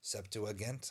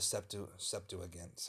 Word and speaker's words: Septuagint: a letter talking about the writing of the Septuagint, I think it's pronounced, which is like the first translation of the Greek Bible from Hebrew to Greek.